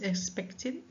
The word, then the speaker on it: expected: that is expect, and the ending is pronounced as T because the base of the form of the verb expect ends in a voiceless consonant that will be T, so it will be pronounced as expect.